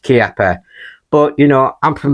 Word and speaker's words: Chiappa: a benchrest contender and yes I know it's pronounced kapper but you know I'm from the northern north